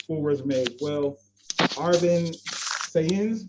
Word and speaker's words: Saenz: Arvin Saenz, did I pronounce that last name correct? Saenz, yes. Saenz, thank you.